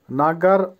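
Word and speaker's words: нога: নাগা, নাগার অর্থ হবে পা বা ফুট, উচ্চারণ হবে, আবারও বলছি নাগা, যদি এখানে ও আছে কিন্তু উচ্চারণটা হবে আর মতো, নাগা।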